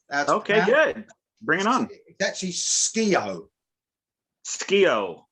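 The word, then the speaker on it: Skeoch: bring it on that's ski-o scale you don't pronounce the c and the h it's just all right cool there you go good to know so anyway jeff keith and tommy ski arch i just [ __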